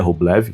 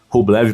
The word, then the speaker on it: Rublev: o nome do Rublev, que em russo não se pronuncia Rubbleev, embora o Rublev próprio fale Rubblev pr as pessoas.